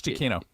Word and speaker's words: Giacchino: Because you're going to have to help me with the last name pronunciation, Rebecca. Michael Giacchino? Giacchino. Correct, you got it. It's Giacchino.